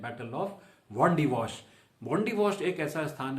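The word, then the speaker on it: Wandiwash: British उच्चारण है वॉन्डिवॉश।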